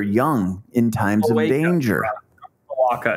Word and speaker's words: cloaca: Cloaca. It's the same thing your cat has, cloaca. Yeah, it doesn't rhyme with Chewbacca.